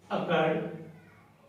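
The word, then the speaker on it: accrued: तो यहाँ लिखेंगे अकर्ड इनकम। आप इसे अकर्ड बोलिए, अक्रूड बोलिए, जो भी प्रोनाउंसिएशन आपको उचित लगे उसको आप यूज कर सकते हो, वो दोनों ही ठीक होती है।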